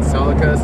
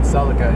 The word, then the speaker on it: Celica: car and I started watching more videos on Celicas and whatnot I learned that the proper pronunciation of the car is not Celica it's Celica oh Celica yeah oh oh I've